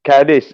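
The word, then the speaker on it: Cádiz: city of gates is caddis it's pronounced in spanish in another way but so it's the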